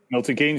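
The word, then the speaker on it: Milton Keynes: Marshall Arena uh on in on the Zone Milton keing is that how you say it Milton Kings yeah that's correct um on the Zone Joshua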